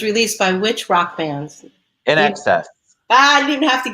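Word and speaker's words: INXS: was I mean I've learned over time that's in excess but you know nobody knew how to pronounce it unless you learned so they were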